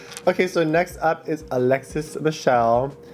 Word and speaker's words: Alexis Michelle: so next up is Alexis Michelle her name rhymes with hell this one I actually